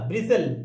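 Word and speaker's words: bristle: एस एल ई टी, टी तो silent रहेगा, हाँ जी हाँ, तो ब्राइज ब्री ब्रीज ली, ली क्यों, ल ब्रिसल, ब्रिसल जी।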